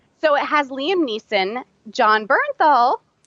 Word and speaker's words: Bernthal: it has Liam Neeson Bernthal not Baron Thal nah not burn burn Bell Bernthal not Baron Paul okay I say it